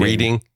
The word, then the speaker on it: Reading: I think I have that right too, Reading, Pennsylvania, even though it reads as Reading. Reading?